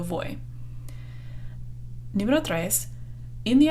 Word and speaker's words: voy: its first the B it's not Voe what is it it's boy yo voy never know thrice in